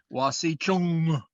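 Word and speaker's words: wasicu: n and that that n is is is pronounced with a guttural sound it's or a glottal sound it's uh wasi chung is the the the common term for white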